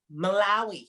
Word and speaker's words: Malawi: Malawi.